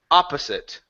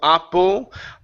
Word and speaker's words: opposite: so the first o the first o is an a the second one is the schah Oppa opposite opposite uhuh one more time instead of Oppo oper opposite opposite there